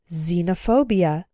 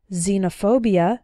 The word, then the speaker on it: xenophobia: girlfriend ex-husband or ex-wife when X starts a word then it's pronounced like Z there are very few of these words in English but a couple of them are xenophobia xylophone and Xerox xenophobia means fear of strangers